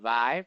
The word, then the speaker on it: VI: six but his friends call him vive because it is spelled with the roman numerals vi uh he is a